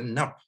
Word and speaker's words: nap: En élamite, le mot pour Dieu, c'est nap. Donc, le logogramme an est prononcé nap en élamite.